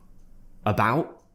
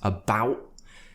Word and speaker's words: about: you don't have to you could say about and drop the T but make sure you're tightening that glottis part of your throat about because if you just do about that doesn't sound right you have to create the tension in your throat for the glottal tea or just say about